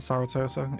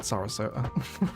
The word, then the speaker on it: Sarasota: In the first bloody episode as well, I said Saratoga, idiot. It's called Sarasota.